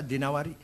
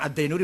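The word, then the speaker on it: الدينوري: Al-Imam Wasyasih bin Qutaibah Ad-Dinawari. Jangan Ad-Dainuri bacanya, Dinawari. Jangan Ad-Dainuri, enggak ada kota Dainur, ada Dinawar.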